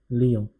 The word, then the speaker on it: Lyon: Pronunciation over here is Lyon.